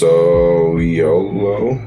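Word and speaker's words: Sowilo: I am Solo. Pronounced Soliolo.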